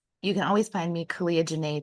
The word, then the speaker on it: Caliah Jinaye: can always find me Kia Jana today it rhymes for a reason but uh or my